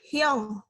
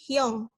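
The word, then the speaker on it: 형: beberapa suka nulisnya hiu tulisannya memang hiu tapi cara bacanya itu sebenarnya adalah keong Jadi bukan hiu tapi Young jadi Hyong ini adalah kakak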